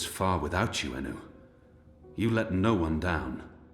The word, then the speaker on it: Enu: I've always been saying her name wrong. Inu? It's Enu?